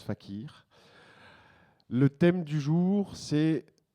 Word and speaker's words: FACIR: on est des artistes on fait ce qu'on veut donc ça se prononce fakir le thème du jour